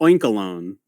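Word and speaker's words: Oinkologne: Well, because it's spelled like cologne, so Oinkalone.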